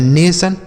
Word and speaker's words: nation: कहीं भी अगर आपको एक साथ TION लिखा हुआ मिले तो उसे आपको सन पढ़ देना है बस, और कुछ नहीं पढ़ना है। जैसे शब्द देखते हैं, यन से पढ़ेंगे नो, ए से ए की मात्रा हो गया ने, और TION को हमने बताया कि सन पढ़ना है तो लिखा गया है नेशन।